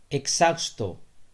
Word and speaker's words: exhausto: Thaka hua, exhausto, exhausto. Yahan pe aapne ye aise pronounce karna hai ki h yahan pe hai hi nahi.